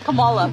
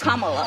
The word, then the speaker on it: Kamala: Earlier you said Camala. Way she pronounces her name is Kamala.